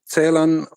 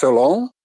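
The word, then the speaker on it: Celan: читати з налисом на першому складі цейлан оскільки так вимагає ну в більшості випадків німецька мова але оскільки він жив у Франції то звичайно там його не могли називати цейлан а називали лон з наголосом на останньому складі оскільки це характеристика французької мови та що дуже я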